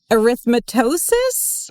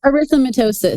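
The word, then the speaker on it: erythematosus: Studying the developmental regulation of human B cells and the autoimmune disease systemic lupus arythmitosis. No. Yeah. How do you say it, Amy? Arithmetitosis. Arithmatitosis. I forgot a syllable there.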